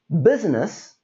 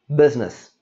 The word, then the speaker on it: business: going to happen here there is the middle i that we don't say this is not pronounced as business this is business easy and quick and